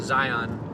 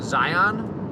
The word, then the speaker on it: Zion: seem to know about zion national park notice i i pronounced it zion because i'm not from there people from there say zion or they just call it zions so i'm thinking about